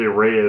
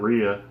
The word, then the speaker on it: Rhea: Well, a lot of people say Rhea instead of Rhea.